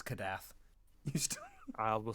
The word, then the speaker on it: Kadath: You still didn't remember it because it's Kadath. You still. I will say Kadeth. I will also pronounce Nyarlathotep or Nyarlathotep differently than you do,